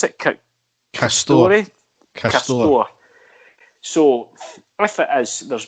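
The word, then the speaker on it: Castore: The actual kit manufacturers, Derek, if it is the case that it is this, how is it you pronounce it? Castor.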